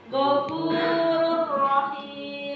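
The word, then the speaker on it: غفور رحيم: Ro kalau tanda bacanya dommatain kemudian berikan fathah berarti dia penyebutannya tebal, maka cara membacanya adalah Ghafurur Rahim. Jadi tanwin pada huruf ini tidak kedengaran.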